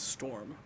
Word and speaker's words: XX0RM: It is Storm. It's, you know, I tried to be fancy with it. XX0RM being Storm.